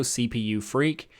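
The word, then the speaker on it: cpufreq: and speed optimizer so it's called auto cpu freak i technically freak for frequency so it's freq and it's also the developer doesn't have a preference of how it's pronounced so i just want to call it cpu freak because it's just more fun that way so that's what we're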